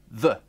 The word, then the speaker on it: the: Alasannya ialah, kata itu kita ucapkan The di muka kata yang mulai dengan huruf hidup.